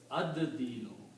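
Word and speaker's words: الدين: Now also, dal is a Shamsi letter, so it will kill the sound of lam, and you will pronounce this ad-dinu. Ad-dinu means the judgment. Ad-dinu. Okay, the actual word is dinun, but when you put al, it will become al-dinu, and when you pronounce it according to tajweed, you do not pronounce lam, but pronounce dal twice. So it becomes ad-dinu.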